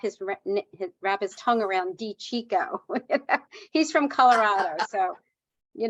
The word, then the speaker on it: DiCicco: years to wrap his wrap his tongue around D Chico he's from Colorado so you know yeah yeah